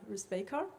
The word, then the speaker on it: Rusbekar: I know it's hard to pronounce, like it's on the stress on the first A, and Rusbekar.